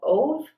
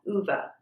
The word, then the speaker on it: Ove: uh the character's name and some people have pronounced it a man called ove but i do believe the correct pronunciation is a man called uva this is about a man who is approaching